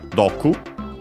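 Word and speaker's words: 毒: also Bobilia mentions from Dou which is the Japanese word for uh poison shorten in this case uh ah by the way accented on the last syllable it's do uh shortened would be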